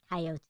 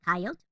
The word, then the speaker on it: coyote: You know, it's 2 syllables. Coyote is 3 syllables, but it's so much more fun to say coyote.